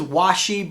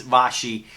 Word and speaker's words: Vaschy: so I so anyway there was washi but I think its Boshy so anyway that's the